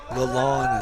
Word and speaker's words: Lalonde: Lalonde is how it's pronounced.